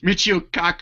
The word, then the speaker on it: Michio Kaku: Michio Kaku.